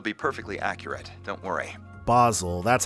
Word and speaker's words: Basel: Basel, that's how it's pronounced.